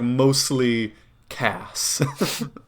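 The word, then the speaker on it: Mostley Casse: character mostly cass yeah not mostly cast it's like mostly cass yeah i know m o s a silent still a silent t l e y c a s s and then like a silent e no fancy yeah i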